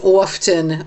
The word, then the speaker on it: often: me go baddy is often often. Uh-huh. The whole concept of often. Yeah. Like often. It bothers you when people say the T.